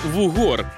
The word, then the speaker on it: вугор: ми розбираємося зі словом вугор І я нарешті знайшов тих хто знає що правильні наголос у цьому смачному слові на о Нового року це добре ладно-ладно зафіксували у слові в угор наголошуємо букву о вугор будемо знати з